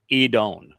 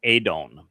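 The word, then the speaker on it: אדון: So Yahwa Edone, our upright pillar and firm foundation. Now when we're considering the uh this word edon, it is typically rendered as adon uh and then as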